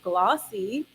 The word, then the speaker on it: GLAAWC: So to support the work of the African-American writers of in the Midwest, the Great Lakes African-American Writers Conference, pronounced glossy.